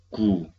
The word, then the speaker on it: 九: Y la pronunciación, gu, gu, ahop, gu, ahop, gu.